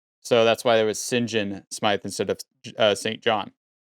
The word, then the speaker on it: St John: reason why it's pronounced sinjin is because uh it kind of goes back to uh norman french origin so they would used